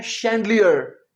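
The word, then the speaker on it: chandelier: अगला वर्ड है शैंडलियर। इसे हम श बोलेंगे। सी एच ए एन डी ई एल आई ई आर।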